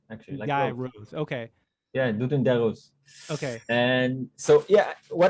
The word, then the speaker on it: Doudou Ndiaye Rose: Yeah, Doudou Ndiaye Rose.